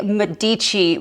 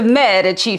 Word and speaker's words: Medici: It's the Medici family, not the Medici family, so I said it wrong.